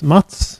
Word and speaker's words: Mats: So my name is Mats. That's the Swedish pronunciation of Matthew, you can think if you don't recognize this name.